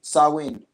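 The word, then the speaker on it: Samhain: the free diabetes in the bag now but Sam Hayne is actually a pagan religious Festival originating from an ancient Celtic spiritual tradition huh a Gaelic word pronounced Samuel saw wind usually celebrate from today until the evening of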